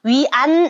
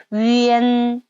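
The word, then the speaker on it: yuan: 두 번째 거 위엔 자 위안 아닙니다 여러분 앤으로 읽으셔야 돼요 어떻게 위앤 위앤 기억해 주세요 위엔 위엔 오케이 예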